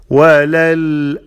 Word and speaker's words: وللآخرة: وللآخرة خير، وللآخرة تخا، تخا، not توخا، نمد.